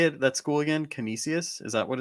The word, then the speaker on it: Canisius: Canisius? Is that what it's called? Yeah, Vish? Canisius.